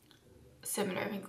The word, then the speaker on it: id: So the id, like it's spelled the ID, so it, but it's pronounced it because I googled.